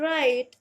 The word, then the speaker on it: right: RIGHT, राइट, और राइट में भी GH होता है साइलेंट।